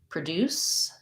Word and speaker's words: produce: about particularly the word produce and produce and a pattern that happens for words that can be pronounced that are pronounced differently as a noun or a verb so when